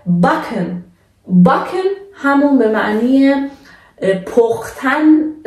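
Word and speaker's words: backen: ترکیب بعدی سه و کا هستش که وقتی در کنار هم قرار میگیره به صورت که عادی تلفظ میشه. مثلا مثل باکن.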